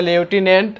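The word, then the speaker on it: lieutenant: की कंफ्यूजन है कि यह देखिए लिखाता है लेफ्टिनेंट और पढ़ा जाता है लेफ्टिनेंट इसमें भी ऐप को हटा दिया गया है तीसरा हैव एक्सीडेड थे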